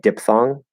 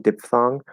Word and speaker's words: diphthong: that that ph amphitheater it's just like diphthong right it's supposed to be diff like diphthong diphthong um but i say diphthong diphthong which is a very common way to pronounce it um and there's nothing wrong with that so it's sort